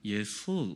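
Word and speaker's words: 約瑟: 근데 요셉을 그 사람들 발음은 예술 이렇게 하더라고요. 야, 발음이 좀 어려워요. 예술 이렇게 읽어요. 요셉을 예술이라고 읽어요.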